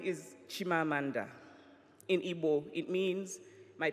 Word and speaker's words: Chimamanda: very good to be back my name is shima Amanda in Ybor it means my personal spirit will